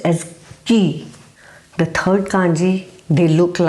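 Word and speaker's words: 木: which looks like a tree and it is pronounced as Ki the third kanji they look like mountains they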